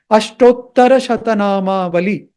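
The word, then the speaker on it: अष्टोत्तरशतनामावली: They will find it difficult to pronounce it. But if you put a little effort, it is not very difficult. Ashtottara Shatanama Vali.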